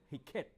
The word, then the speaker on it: Heket: So that frog god was a god named Heket. I'm going to spell it for you.